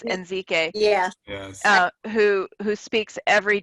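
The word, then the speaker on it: Ezike: perspective doctor and doctor I might not pronounce her name correctly in Zeke gay it and I think it's NZ gay yeah who who speaks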